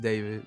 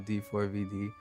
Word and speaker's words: d4vd: Um, pronounced David, not D4 VD.